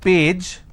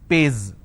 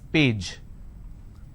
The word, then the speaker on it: page: If I have the word which is page, they pronounce this as pays. It's not pays, it's page.